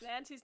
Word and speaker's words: Knancy: No, it's Nancy's knittery. Mad Marjorie was Nancy's mother. You know what? That explains the sticks. It Terrible. does. What kind of name is Knancy? Oh, the K is silent. Nancy. Good Nancy.